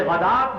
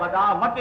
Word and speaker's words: غداة: يَدْعُونَ رَبَّهُمْ بِالْغَدَاةِ وَالْعَشِيِّ، یہ غدات ہے، غداوت نہیں ہے، واو جو ہے یہاں پر بالکل اس کا کوئی تلفظ نہیں کیا جائے گا، یہ صرف لکھنے میں آ رہی ہے۔ بِالْغَدَاةِ وَالْعَشِيِّ يُرِيدُونَ وَجْهَهُ،